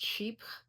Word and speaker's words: chypre: I recently did a part one and talked about the sheep genre of fragrances, the sheep style. And by the way, if you're not familiar with sheeps, they're sometimes pronounced chypre in French.